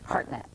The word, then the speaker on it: Hartnett: net i'm not sure hartnett equal emphasis on both syllables okay anyway he'll be